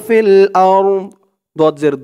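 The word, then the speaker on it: الأرض: দদ কেও ধরবে আরদ দদের উচ্চারণটা লাস্টে একটু ভাসবে ওয়া মা ফিল আরদ ওয়া মা ফিল আরদ।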